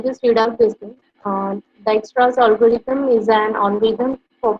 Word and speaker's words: Dijkstra's: Most of us call it Dijkstra's algorithm also, but actually it is pronounced as Dijkstra's algorithm.